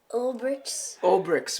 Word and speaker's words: Ulbricht: How do you pronounce that, buddy? Ulbricht's, exactly.